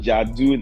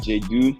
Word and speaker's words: Jadu: behind it um Jadu so the name is pronounced Jadu not J do um I just want